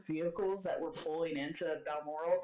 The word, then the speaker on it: Balmoral: just the speed at which you guys see some of the vehicles that were pulling into Balmoral, did I pronounce Yeah. that right? Yeah, Balmoral.